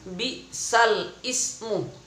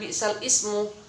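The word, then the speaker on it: بئس الاسم: Itu yang berwarna merah, bagi yang punya tilawati yang berwarna merah, itu ada tulisan bi'sal ismu. Tulisan apa? Bi'sal ismu. Namun bacaannya bukan bi'sal ismu, melainkan bi'salismu.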